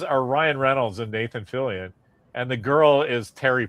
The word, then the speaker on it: Fillion: I honestly think that if that show went longer, how do you pronounce his last name? Fillion? Is that Nathan? Yeah. Nathan Fillion.